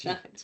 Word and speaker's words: Schijns: go hi I'm shines and I make a joke out of it you know despite how it looks like it's spelled that's how it's pronounced and it made all